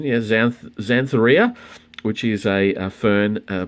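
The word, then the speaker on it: Xanthorrhoea: collection i already have and i've checked the pronunciation yeah xantharia which is a fern uh plant uh in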